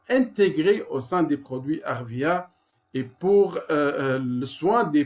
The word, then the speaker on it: Arvea: Donc, Arvea, c'est 2 syllabes.